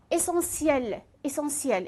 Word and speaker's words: essentiel: ألاحظ هنا essentiel هنا TIEL لفظ ça prononce C. TIE le prononce C. essentiel.